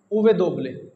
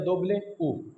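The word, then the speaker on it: uve doble: डब्ल्यू को हम pronounce करते हैं उवे दोबले। उवे दोबले या दोबले ऊ। ये दो तरीके से प्रोनाउंस किया जाता है, उवे दोबले या दोबले ऊ, उवे दोबले, डब्ल्यू उवे दोबले या दोबले ऊ।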